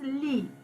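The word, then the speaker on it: lit: you have sho sorry first one is lee you pronounce it as i t is lee wardrobe sofa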